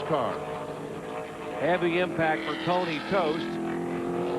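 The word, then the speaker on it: Toste: Heavy impact for Tony Toast. It's spelled T O S T E but pronounced Toast.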